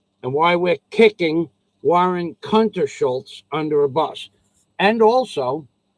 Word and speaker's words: Kuntershultz: under a bus now if you can't say that last name it's a long name many many syllables warren w a a and the last name is hunter schultz k-u-n-t e-r-s-h-u-l-t-z schultz and why we're kicking